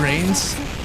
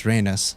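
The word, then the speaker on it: Reines: By the way, I've always called her Rains, but I was actually rewatching some El-Melloi case files cutscenes, and it's pronounced Rhaenys, and now I feel like the biggest idiot of 2021.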